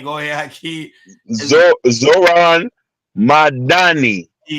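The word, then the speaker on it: Zohran Mamdani: How to pronounce his name? Go ahead. Zor Zoran Madani. Zoran Madan. Zoran Madani.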